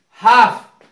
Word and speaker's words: half: हाफ, L silent रहेगा HALF, क्योंकि इसके बाद एफ आया है।